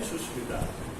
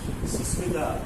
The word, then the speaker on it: Sushmita: For example, को आप अगर कहते हैं, सुरेश को अगर आप सुरेश कहते हैं, तो definitely the charm is reduced. I am sure that if I am Sushmita and somebody calls me Susmita, I love you, probably I will give a slap.